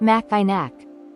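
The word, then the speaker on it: Mackinac: might want to say maak but that's incorrect the C is silent so it's actually pronounced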